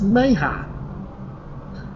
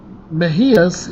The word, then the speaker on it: Mejia: Fernando Perales Meja is scheduled to appear in adult court on September 27th. Mejia's, I pronounced his name wrong at the beginning.